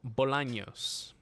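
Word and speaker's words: Bolaños: surname and why not so it's a spanish espanol um you pronounce it as bolanos so when i was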